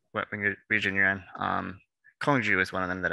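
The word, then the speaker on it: 空竹: history behind it um the diabolo is pronounced different things in different parts of china um the one that i'm familiar with is kongju which roughly translates to hollow bell and the word kangju or hollow bell because um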